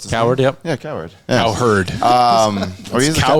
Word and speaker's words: Cowherd: It probably was not said recently, but I just saw the clip of it yesterday, Colin Coward. Colin Coward? Howard Coward. What's his Coward, yeah. Yeah, Coward. Cowherd.